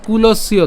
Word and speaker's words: কুলস্য: এরপর হচ্ছে কুলস্য চ, এই জায়গাতে আরেকটা আমরা কাজ করতে পারি কি, কুলস পর্যন্ত উচ্চারণ করে জফলার উচ্চারণটা কার মতো হয়, ইয়র মতো হয়, তাহলে কুলস ইয় চ।